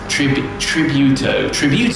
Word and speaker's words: Tributo: Tributo, that's how you say it.